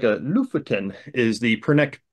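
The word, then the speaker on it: Lofoten: to ltin Norway and it's actually kind of pronounced Loftin um I always have a hard time pronouncing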